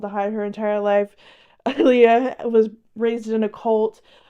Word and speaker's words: Leah: It's Leah, not Leia. I don't know why I keep saying Leia.